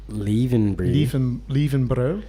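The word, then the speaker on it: Löwenbräu: Is that Lowenbrow? Yeah, well, that's how they told me to pronounce it. Lievenbrouw.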